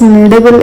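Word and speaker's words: kneadable: So I pronounce as needable eraser but it won't start from letter N. It start from letter K. K N E A D A B L E.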